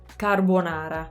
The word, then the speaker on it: carbonara: i've said so far ca that really open a ca carbonara so closed o carbonara i mean it's really just the a's actually this is a good word to practice the a's on to get that really open sound so it depends on